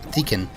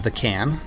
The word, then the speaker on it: Deacon: Cedric or the can his name was actually the can Deacon but I pronounced it as the can it was funny or